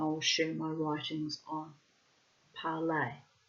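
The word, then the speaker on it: Parler: Um I will share my writings on parlay parlor. Will I pronounce it the French way?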